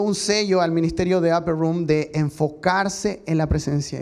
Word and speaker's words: Upper Room: El pastor Danilo me habló acerca de Upper Room, así se pronuncia, Upper Room.